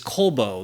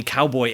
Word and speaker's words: Colbo: My last name is Colbo, like a piece of coal and a bow. And when you see it just spelled out there, it's not really apparent that that's how it's pronounced.